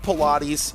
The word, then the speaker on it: Pilates: Is that pronounced Pilates? It is right.